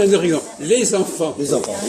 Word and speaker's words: les enfants: Les enfants. Les enfants. Oui, les enfants. Il y a une liaison.